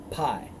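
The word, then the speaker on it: Pau: of his city was pai-you or this pronounced pie and his wife's name was the bell the daughter of matrid the daughter of mezahab verse 40.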